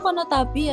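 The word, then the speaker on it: この度: Oh, itu dibacanya konotabi ya, Seny. Betul konotabi ya, bukan konodo ya.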